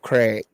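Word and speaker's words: Krieg: with this guy Dave Craig all right and the Craig is spelled k r i e g okay most touchdowns in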